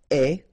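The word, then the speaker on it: ait: and avoir will become est, remember the final E is not pronounced, so you only have this A-I sound, est, okay, est, ayons,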